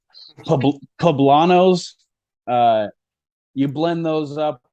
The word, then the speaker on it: poblanos: on there I'll go out and get some phlebot ah man that's a fine I didn't pronounce that right poblanos uh you blend those up a bunch of